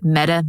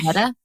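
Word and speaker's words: Metta: Meta? Yeah, Meta McLeod. It's spelt like Meta, but with 2 T's instead. So M-E-T.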